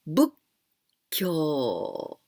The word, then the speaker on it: 仏教: But this small tsu, it means you must jump. So we pronounce 仏教.